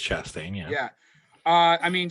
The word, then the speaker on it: Chastain: say your last name is it chase chastain i believe it's chastain yeah yeah uh i